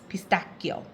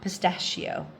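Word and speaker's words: pistacchio: in uh Italy uh c is either a che or a k sound there is not there's not really a lot of sounds for C so here in Italy it's pistachio not pistachio right so I may go back and forth but Americans say a pistachio Italians say it anyway we went to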